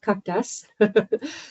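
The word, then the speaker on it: CAQDAS: I can say it that way but it's pronounced kakas so it's computer assisted data analysis software tool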